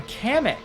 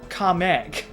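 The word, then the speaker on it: Kamek: going to be replaced by kamik from or I'm sorry the official pronunciation comic uh from you know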